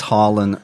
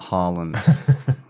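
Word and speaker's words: Harlan: okay okay great and it's harand not Holland we have mention we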